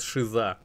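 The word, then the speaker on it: Caesar: обратил внимание это на их специфическое произношение слово Цезарь оно во всех языках конечно произносится по-разному но тут они прямо говорят шиза вам не слышится это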